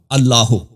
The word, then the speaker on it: اللہ: تو یہ کہنا الف کا یہ الف جو ہے اللہ کا, یہ الف وصل کے لیے. تو یہ جب یا کہیں گے تو اس کے ساتھ یہ الف کے تلفظ نہیں ہوگا.